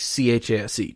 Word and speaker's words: Chase: hard enough to get people to spell and pronounce my name right, which it's Chase, Chase, just if you didn't know.